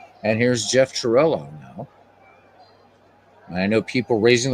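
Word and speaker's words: Cirillo: And here's Jeff Chirillo now. I know people raising their eyebrows, but I'm using the Italian pronunciation of his name.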